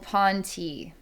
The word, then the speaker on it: P'nti: All right, so it says that these beings are called Pon-tee, and they're from the planet Ponty, fifth planet orbiting Zeta Reticuli II.